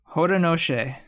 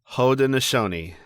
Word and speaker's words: Haudenosaunee: Yes, because I found out how to pronounce it. Haudenosaunee.